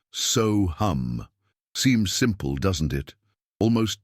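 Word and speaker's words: सोऽहम्: The word is SoHum, pronounced SoHum.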